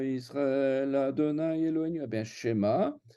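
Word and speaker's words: שמע: Eh bien, Shema, c'est un mot qui se prononce Shema. et pas Shema. Le E, il est prononcé parce qu'il est au début du mot.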